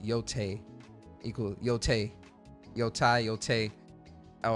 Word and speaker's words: Yotei: Oh, and it's pronounced Yōtei.